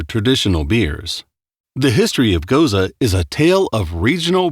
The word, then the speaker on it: Gose: Gose, pronounced Gose, is a unique and historical style beer with a fascinating origin story that dates back over 1,000 years.